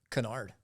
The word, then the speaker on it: Kinard: last name pronounced kard Canard Canard used to be kard but my uh